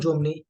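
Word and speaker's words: zéro: किए जाते हैं, एंड दिस पर्टिकुलर एक्सेंट जो हमने ई के ऊपर यूज किया है जीरो में, दिस इज कॉल्ड एक्सेंट एग्यू, जिसका पर्पज है साउंड ए देना, ई को। तो दैट्स वाई हमारी प्रोनाउंसिएशन क्या है, जेहो।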